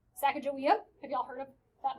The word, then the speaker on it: Sacagawea: We have been pronouncing her name wrong the entire time. The real way that you are supposed to pronounce her name, Sacagawea.